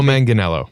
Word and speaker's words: Manganiello: and I can't wait to have him teo Manganiello Manganiello Manganiello thank you Sam I'll ask Cory